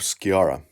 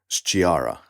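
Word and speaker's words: Sciarra: s-c-i-a-r-r-a funnily enough when it's written in this way in italian you would pronounce this then as chiara but it's always pronounced as chiara some italian people were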